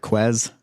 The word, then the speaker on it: Marquez: Adam Marquez. Crap, I've been thinking your name in the wrong pronunciation forever. Quez.